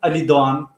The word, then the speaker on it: Ali Doğan: My name is Ali Doğan.